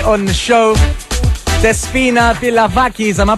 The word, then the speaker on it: Despina Pilavakis: Despina Pilavakis. Am I pronouncing that right? Yeah, she said. What was that guy? What's that guy's name who does those announcements on X Factor? Despina Pilavakis.